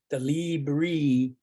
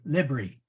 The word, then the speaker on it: libri: the the Libra the Libre is that how you say it Libre books yeah short I libri oh okay okay my eyes are failing me yeah it's a short yeah I thought it